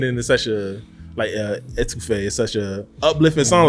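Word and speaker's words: étouffée: It's French. It's Etouffee.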